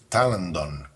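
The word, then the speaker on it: τάλαντον: that Talent comes from Greek talanton pronounce it Talon which is the name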